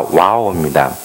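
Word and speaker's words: WAO: 영어로 와오가 W-A-W잖아요. 그래서 발음은 같습니다. 와오입니다. 근데 저희는 W-A-O입니다.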